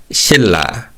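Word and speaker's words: 신라: Now, we actually saw this word in an earlier lesson and we learned that in dian plus pattern diambachim is read as a le sound. However, as shown by this second example in le plus nian pattern, the nian changes to a le sound.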